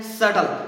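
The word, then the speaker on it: subtle: आगे वाला देखो, एस यू बी टी एल ई, इसको सबटल नहीं पढ़ना है, इसको सबटल नहीं पढ़ना है। ये क्या है? क्योंकि ये टी है और ये बी है तो यहाँ पर ये बी है वो साइलेंट है, इसको क्या पढ़ना है? सटल।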